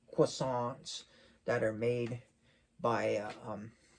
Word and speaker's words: croissant: that are made by or croissants as we say them, as a lot of people say them in America, but it's really croissant is the French way to pronounce it. You kind of have to roll it with your tongue, croissant. But anyways, yeah, experience those,